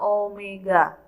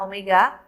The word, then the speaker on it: omega: Kecepatan sudut itu lambangnya adalah nih, seperti ini, bacanya adalah omega. Ya, omega.